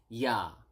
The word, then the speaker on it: ya: is how do you say yes yes is yah yah okay so um that's how do you